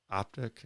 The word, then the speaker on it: Ahptic: what is the name name of your company optic it's spelled a-h-p-t-i-c okay yeah and is that based